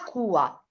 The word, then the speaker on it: cua: Però cua, allora perché devo mettere l'accento sulla U? Perché se no leggo qua. Come? Perché Brava, la cua, certo, perché va accentata la U, la cua del asen.